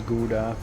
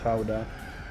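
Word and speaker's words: Gouda: with Dutch Howa cheese which in English gets pronounced as GAA but in Dutch we say Kaa but how cheese is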